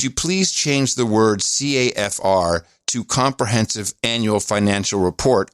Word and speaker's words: CAFR: So now we're pronouncing acronyms, and it sounds like, so CAFR sounds like the same as KAFFIR.